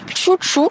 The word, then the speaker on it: Xuxu: sur Instagram qui s'appelle Chouchou. Alors ça s'écrit Xuxu, mais on a bien compris que les locaux ici, ils disaient Chouchou, c'est du basque.